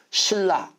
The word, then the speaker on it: 신라: 이렇게 발음해야 되는 거예요 신라는 신하고 라를 자를 수 있어요 못 자르죠 그러니까 어떻게 발음해야 돼요 신라 이렇게 발음해야 되는 거예요 자 그래서 선능 이걸